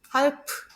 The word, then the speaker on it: halb: 1번은 배가 단어 맨 끝에 나왔기 때문에 음절 맨 끝에 나왔기 때문에 배가 아니고 프가 됩니다.